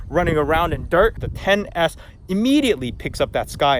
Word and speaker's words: XS Max: Oh crap, I just realized this phone isn't called the XS Max, it's the 10S Max, the 10S, not XS.